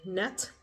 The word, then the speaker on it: Nette: sense of the day net Rose Parade I finally figured out how to say it not nette net where do I get